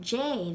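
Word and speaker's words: Dé: look like je luin so we have the little word j there which in all of these will just be pronounced more like j but literally it's j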